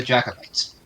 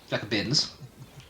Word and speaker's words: Jacobins: I just Chris, jumped- I'm sending you back in time to be executed by the Jacobites. Jacobins. Jacobins? Jacobins. It's Jacobin? I've been saying it wrong this entire time.